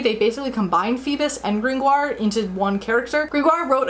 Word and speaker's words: Gringoire: name of Pierre Gringoire, whose name I will pronounce the anglicized Gringoire for the rest of the time, just to be in line with adaptations, who was a thinly